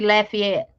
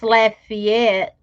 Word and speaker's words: Lafayette: don't know ms lynn is that pronounced lady yet louisiana or is that supposed to be lafayette i know i don't is i mean i don't understand why people get offended by accents because it is what it is if you from down south louisiana you don't have that accent like troy and them off of swamp people so miss lynn if you live in laffy if that's lafayette yeah lafayette um now a lot of